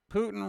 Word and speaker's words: Putin: Putin rhymes with pudding.